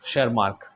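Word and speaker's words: Tschermak: बाकी वो 3 साइंटिस्ट कौन से थे, ये de Vries, Correns and ऑन शेरमार्क। T silent है ना ये लोग।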